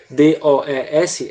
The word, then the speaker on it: does: A pronúncia mais comum para esse D-O-E-S é does. A pronúncia mais comum. Não quer dizer que outras estejam erradas, mas geralmente se fala does, como se fosse um tá certo?